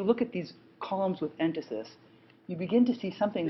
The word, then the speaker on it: entasis: You'll see the word written, but I'll spell it for you right now. It's called entasis, E-N-T-A-S-I-S.